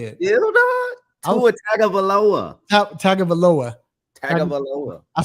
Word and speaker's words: Tagovailoa: I'm missing the syllable. I can't say it. Tua Tagovailoa. Tagovailoa.